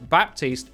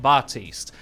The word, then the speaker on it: Baptiste: - just responds with baptise pronounces the P so there you go it is in fact Baptiste not Bart East moving on we've got